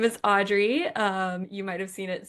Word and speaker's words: Adri: My name is Audrey. You might have seen it spelled before. It's spelled a little weird, but it is pronounced Audrey.